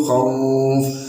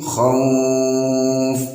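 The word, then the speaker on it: خوف: Min khauf. Nah, khauf ini bisa dibaca panjang, 1 alif atau 2 harokat, atau 2 alif atau 4 harokat, atau 3 alif atau 6 harokat.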